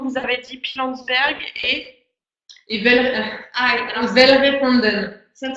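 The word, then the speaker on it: Welgevonden: avez dit Pilanesberg et Velvet-Randen. Ça ne s'écrit pas comme ça se Non, prononce. c'est W-E-L. Non, W-E-L-G-E-N-V-O-N-D-E. Voilà, c'est un nom un peu barbare, c'est un nom afrikaans, qui est donc la langue des Afrikaans.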